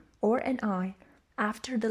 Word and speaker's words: hora: ace and basically the h is silent in spanish we don't pronounce it we say hola we don't say hola we say ora we don't say hora